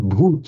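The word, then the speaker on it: भूत: The word bhoot in Hindi wouldn't be pronounced bhuta, but bhoot means somebody who has been, and therefore a ghost, the spirit of the departed.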